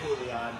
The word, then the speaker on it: Julian: It's spelled like Julian Serrano, but say Julian. He'll respect you more.